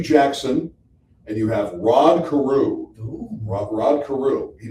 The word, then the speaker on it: Carew: Carew rhymes with Jew.